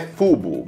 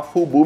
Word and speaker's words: FUBU: moeda Dream with friends a pronúncia nos Estados Unidos é cubo mas no Brasil a gente falava fogo mesmo que é um acrônimo